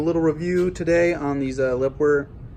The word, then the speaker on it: LEPOWER: review today on these Lipper that's how you say it le pwer floodlights led got this